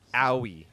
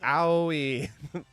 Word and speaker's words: OI: And I swear the way it was pronounced on the official Virtual Fighter channel was owie. Like, owie.